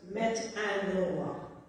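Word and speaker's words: μετάνοια: The New Testament was written originally in Greek, and the Greek word is metanoia, pronounced metanoia.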